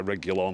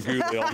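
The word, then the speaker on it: Reguilón: I'm not been impressed by Reguilon, or however you pronounce it. Not been impressed with him one bit. Reguilon. Reguilon. That's how you say it.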